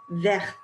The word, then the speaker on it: verte: Verte. And you might notice that I'm pronouncing it a little bit differently this time. You can hear the T on the end.